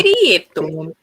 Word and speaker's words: Prieto: Pietro. Como é que é a pronúncia? Boa, Pietro. Qual é a pronúncia correta? Eu gosto de pronunciar Mas o nome é das pessoas corretamente. Prieto. É Prieto. Isso.